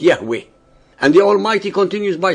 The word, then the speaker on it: Yahweh: himself as I am which in Hebrew is pronounced Yahweh.